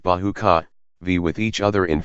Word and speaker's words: bajika: Nature does her best to protect the jungle, for always, on the edges, bamboo, and bajika, pronounced bahuka, vie with each other